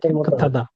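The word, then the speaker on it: 깨끗하다: এটার প্রনান্সিয়েশন আবার এটার উচ্চারণ কিন্তু হাদা না এটার উচ্চারণ জিয়তের সাথে গিয়ে তাও মত উচ্চারণ হবে তার মত উচ্চারিত কেক থাদা টিউটের মত হয়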